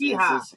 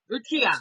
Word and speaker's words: Uchiha: Yeah, I have no idea how to pronounce. Yeah, Itachi it's Uchiha. Hee-Haw. Uchiha.